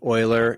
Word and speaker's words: Euler: name just a really short short bit i pronounce it euler and it was named after a mathematician a